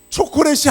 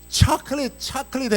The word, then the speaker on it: chocolate: 초콜릿이 아니더라고. 영빈아 한번 초콜릿이 뭐지? 발음 한번 해봐. Give me the chocolate. chocolate 해야 되는데 초콜릿 그러니까 못 알아듣고 안 준 거라고 지금 생각이 듭니다.